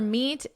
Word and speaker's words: meet: Watch out for meet and great and threat. So remember, we're focusing on vocabulary. I don't think there's anything we need to discuss for vocabulary. They rhyme with sweet and straight and debt.